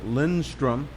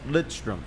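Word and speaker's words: Lidström: half the people thought his name was nick lindstrom that's what i thought it was right how do you say it what's the proper way it's lit strom and l-i-d-s-t-i-m was he's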